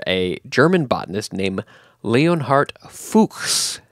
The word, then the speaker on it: Fuchs: is named after a German botanist named leonart fuks f c HS so it should be like